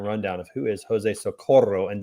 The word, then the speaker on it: Socorro: Give everybody a little 30-second rundown of who is Jose Socorro, and did I say it correctly? I want to roll the R.